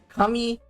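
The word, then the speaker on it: かみ: You pronounce it the same way, kami.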